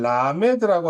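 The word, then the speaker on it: למד: 12번째 단어는 라메드라고 하는 건데 길쭉한 게 마치 지팡이의 모양을 갖고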